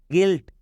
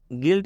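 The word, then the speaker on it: guilt: आपके लिए वॉवेल है जब भी यू के बाद कोई वावेल आता है तो यू का उच्चारण नहीं करना है गिल्ट का मतलब होता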